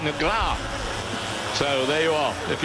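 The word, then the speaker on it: Negrão: And the pronunciation, really, of Alexandrino Nagro, I'm told from my Brazilian friends, is more like Negra.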